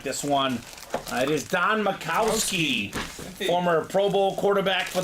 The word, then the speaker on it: Majkowski: Closer magic spot as well, Cody, on the Don Majkowski jersey. All right, looks like Majkowski, but it's pronounced Majkowski.